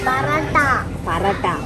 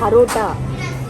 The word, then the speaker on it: parotta: -Paratha. -He's calling it paratha. It's parotta.